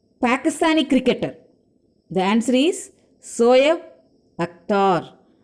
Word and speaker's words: Shoaib Akhtar: The answer is Shoaib Akhtar. How do you pronounce? Shoaib Akhtar.